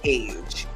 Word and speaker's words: Age: Adriana and but she likes to be called age if you didn't know a g e and